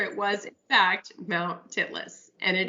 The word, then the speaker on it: Titlis: pronounce the name of Yes, this mount to make yes, sure it was, in fact, Mount Titlis. And it it's Mount is. Titlis.